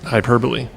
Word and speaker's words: hyperbole: week over the word hyperbole how did he pronounce it hyperbole that's how you pronounce it exactly and she was hybo or I know it's spelled weird yeah some